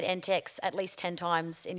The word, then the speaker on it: NTEX: NTX, is it NTX or NTEX? Just NTEX. There's so many acronyms in so many different worlds. Sometimes I try to pronounce them and I'm wrong, but this one, NTEX. Like, yeah, cool. Not NTX or anything like that. No, NTEX.